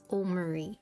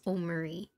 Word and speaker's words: Omori: Also, I looked up the pronunciation of this game and it is Omori, so I was pronouncing it correctly.